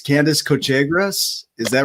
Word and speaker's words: Cochegrus: Candice, you're going to have to correct me if I say your name wrong, but it's Candice Cochegrus.